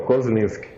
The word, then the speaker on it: Kozlinski: É exatamente como você falou, Kozlinski. Lendo ele como ele é escrito, às vezes as pessoas acham difícil, mas se você for ver bem assim, da maneira com que ele é escrito, ele é pronunciado, porque na minha cidade